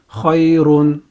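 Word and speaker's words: خَيْرٌ: The second syllable we have is ra dhammatain run. Ra can be heavy or light, but in this case it is heavy. Ra dhammatain run. Ra dhammatain run. Ra dhammatain run. When we combine these two syllables we have khayrun, khayrun, khayrun.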